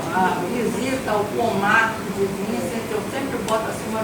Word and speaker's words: Vincent: Eu estou falando Vincent porque eu vi que a pronúncia não é pronúncia em inglês, não. A pronúncia lá no holandês está lá. O Google me disse que é. Em holandês, Vincent é Vincent mesmo.